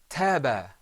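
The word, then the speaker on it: طاب: The first word is pronounced taba. Repeat after me. Taba.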